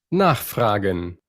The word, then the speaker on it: nachfragen: Primero se nos habla de que los verbos separables, o sea, los que no son como frases verbales, vienen y tienen el acento siempre en la primera sílaba.